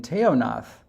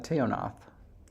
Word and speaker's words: Teonath: the interdental fricative in teonath and i learned that when i learned that it wasn't pronounced teonat oh how do they say it sorry uh tayonnoth oh oh um you